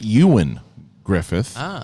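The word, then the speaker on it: Ioan Gruffudd: Chris Jones to clarify gruff its name is pronounced Ewan Griffith fun fact he's actually from my hometown I've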